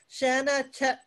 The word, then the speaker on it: Shanna: is also out your way as well shannon shanna chin chinoweth spell that so shanna is s-h-a-n-n-a and her last